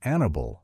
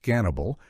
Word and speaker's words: Hannibal: It is interesting that in pre-revolutionary Russia, the pronunciation Annibal was common, not Gannibal, which is closer to the Greek rendering of the name.